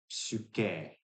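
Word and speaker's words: ψυχή: And that gives us uh, different realizations like psyche, psyche, psyche, where we have a full K sound, not psyche, or psyche, I guess would be the modern Greek.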